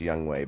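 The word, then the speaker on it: Younghoe: Atlanta was their kicker Yung Ho cou and I know it's pronounced young way but it's spelled like y ho and you know who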